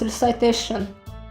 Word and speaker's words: recitation: Oh, so it's actually pronounced recite. So then it's recitation. Okay, recitation.